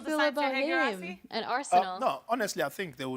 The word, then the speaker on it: Guirassy: No, his name's Guirassy.